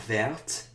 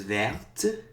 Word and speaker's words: verte: So brun becomes brune, vert becomes verte.